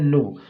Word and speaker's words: know: यहाँ पर के क्या है, साइलेंट है, इसे बोला नहीं जाता, लिखा जाता है।